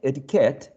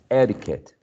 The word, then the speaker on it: etiquette: a grotesque now ed etiquette um according to the rule we are following or we're learning the stress should be placed on the last syllable nevertheless some people may say etiquette okay but for the